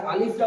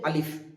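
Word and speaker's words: ألف: প্রথম এখানে আছে আলিফ তো আমরা আলিফটা উচ্চারণ করার সময় খেয়াল রাখবো যে জীবের আগা উপরের দাঁতের গোড়ার সাথে লাগিয়ে উচ্চারিত হবে আলিফ এবং দুটো ঠোট হালকা ফাঁকা থাকবে একটা বাতাস বেরিয়ে আসবে হালকাভাবে আলিফ আলিফ আলিফ যেমনটা একটা বাতাস বের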